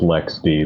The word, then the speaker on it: LXD: the rest of linux i know it's actually pronounced lex d but lxd is a